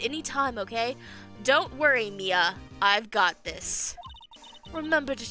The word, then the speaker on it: Mia: No, it's Mia.